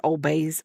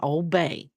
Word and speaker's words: Old Bay: See, I know I said it wrong. Old Bay.